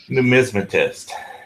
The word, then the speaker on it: Numismatist: Numismatist.